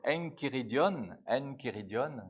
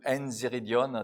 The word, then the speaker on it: Enchiridion: Especialmente no tratado de catequese de Santo Agostinho, que se chama Enchiridion no grego, ou Enziridion, depende da pronúncia, ele vai dizer também essa palavra interessante.